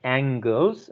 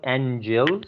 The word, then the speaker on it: angles: sure the angles right we have to pronounce as angles not angels aren't shabba it is angle so who's going to